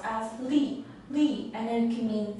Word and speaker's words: 力: this cartridge pronounced as Li Li and then can mean physical strength leach